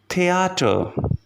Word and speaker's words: Theater: Now the last letter combination, which is te ha, which is simply pronounced like T. Here we have the example of the word, which is theater, theater, which means theater.